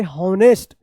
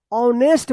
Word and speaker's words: honest: आप इसको पढ़ रहे होंगे हॉनेस्ट। क्या पढ़ते होंगे? हॉनेस्ट पढ़ते होंगे, हॉनेस्ट, जो बिल्कुल गलत है। ऐसा उच्चारण नहीं करना है, क्योंकि यहाँ पे एच जो है ना ये साइलेंट रहता है, इसका उच्चारण नहीं होता है। तो इसको क्या पढ़ेंगे? ऑनेस्ट पढ़ेंगे। क्या पढ़ेंगे? ऑनेस्ट, हॉनेस्ट नहीं।